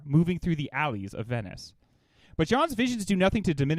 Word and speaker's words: Venice: Venice rhymes with penis.